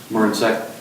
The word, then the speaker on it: Marincek: How do you pronounce that? Marincek.